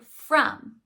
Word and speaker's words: from: But let's look at the word from. From. If we pull apart the sounds, we know that there's only one unexpected spelling in the word from, the third letter. The is spelled with the letter O.